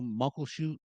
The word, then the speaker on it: Muckleshoot: Muckleshoot, Oh yeah, yeah.